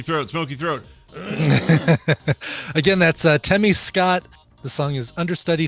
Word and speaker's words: Temme: Again, that's Temmie Scott. The song is Understudy. Temmie is spelled Temme, like Lemmy.